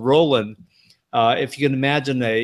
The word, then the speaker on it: Roland: Like, okay, my name is Roland, and when people call me Ronald, man, that just tweaks me out.